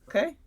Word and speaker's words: ook: Okay.